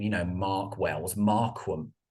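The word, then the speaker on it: Marquam: you know Mark Wells Markham was actually how it's spelled m-a-r-q-u-a-m very unusual so I actually man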